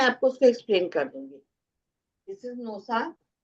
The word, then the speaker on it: Gnosa: वो बताते हैं पहला सिंबल है नोसा जी एन ओ एस ए इसकी स्पेलिंग है जी से स्टार्ट होगी अब ये इसको इधर